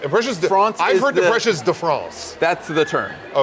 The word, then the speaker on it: Impressions de France: My number 5 is Impressions du France. Impressions du France. How do you say it? Impressions de France.